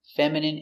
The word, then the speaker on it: feminine: so remember these words words ending in i and e can have different pronunciations all of these have the sound in Imagine examine engine discipline feminine and masculine thank you for watching